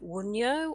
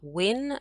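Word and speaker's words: Wunjo: to a relationships as well next we have wunyo or win as i was taught to pronounce it and it means joy so obviously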